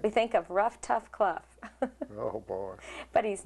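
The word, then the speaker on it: Clough: kff Dr Wayne kff oh you pronounced it kff uhhuh cluff just like Ruff I never I I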